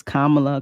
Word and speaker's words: Kamala: kind of you know say it correctly it's Kamala Kamala it is an ambiguous name so I